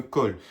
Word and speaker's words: khôlle: Alors, quand vous avez une colle, c'est-à-dire une colle, ça s'écrit K H O E. Mais attention, sur le haut, il y a un accent circonflexe.